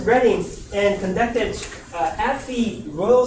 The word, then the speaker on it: Reading: the university of reading or is it reading already how did they pronounce it reading right okay universal redding and conducted at the